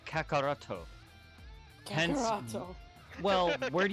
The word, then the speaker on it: Kakarot: It's like Kakarot, but his real name is pronounced Kakaroto.